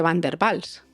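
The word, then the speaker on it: Van der Waals: o las fuerzas de bander bals que se escribe con w pero también tenemos otro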